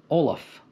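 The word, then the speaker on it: Ollam: O-L-L-A-M is pronounced Olaf. And if you wonder why, you could say it's actually originally spelled O-L-L-A-M-H. And when you say, that doesn't help. That's because you don't know anything about Gaelic, apparently.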